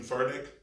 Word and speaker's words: Furtick: It's Furtick.